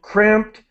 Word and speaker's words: cramped: So the animals on fur farms spend their lives confined to cramped, a T sound, cramped, filthy, which is dirty, wire cages.